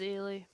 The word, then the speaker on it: Aly: My name is Aly. Aly. Say it like Haley without the H.